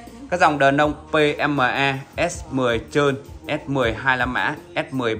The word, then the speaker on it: S10: thứng hiệu đơ ông thì thường đọc là qs10 chúng ta đọc đúng chính tả là S10 không phải qs10 quý vị lưu ý